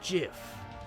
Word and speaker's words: GIF: It's pronounced GIF. Huh? .GIF, like the peanut butter.